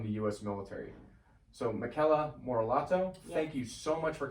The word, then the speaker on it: Morellato: So Michela Morellato, Thank you so much for coming on the podcast.